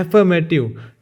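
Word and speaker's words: affirmative: एफर करते थे ना हम, तो थोड़ा ये साइलेंट, ये आर यहाँ पे साइलेंट रहता है, एफर्मेटिव।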